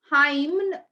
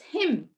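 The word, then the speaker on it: hymn: is the season and him him is the song which uh they sing in church so it's not uh him it's him h y MN n goes silent it's him okay did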